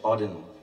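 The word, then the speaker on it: Auden: part of a poem from wh Odin that's how you pronounce it so I wish you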